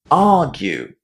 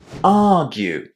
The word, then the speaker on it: argue: Argue. Argue. So what you need to remember here is that the stress is on the first syllable and then the ending is pronounced as you in exactly the same